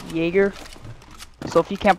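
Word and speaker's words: Jäger: days of Y and it's pronounced Jaeger so if you can't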